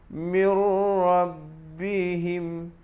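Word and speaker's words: مِن رَّبِّهِمْ: idgham bilagunnah Mir Mir jangan baca mirror atau Nyi Roro bihim kalau kita baca mirrobbihim jadi bunyi yang jelas bacanya mirrobbihim lagi dengarkan Hai Mbak sebelum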